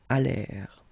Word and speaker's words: allèrent: And then this ENT at the end, you know, the mark for the plural. Well, clearly you don't pronounce it, so you get allèrent.